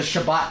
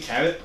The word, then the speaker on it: Cabot: Vermont, we'll go to the Shabbat cheese factory. Cheese. You I mean, like don't you cheese. mean Cabot?